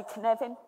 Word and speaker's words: Cynefin: It's a Welsh word, so it's pronounced like Kevin with an N in it. So say the word Kevin to me, say Kevin. Say, put an N in it, say Cynefin. There you go, you got it.